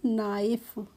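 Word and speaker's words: knife: इसको नो पढ़ते हैं जैसे के एन आई एफ ई तो इसको हम नाइफ नहीं पढ़ते हैं इसको हम पढ़ते हैं नाइफ ऐसे ही इसको भी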